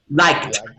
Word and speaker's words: liked: Liked. This is the pronunciation.